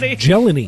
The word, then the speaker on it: Jelani: It's Sure believe thing, it's pronounced Jelani.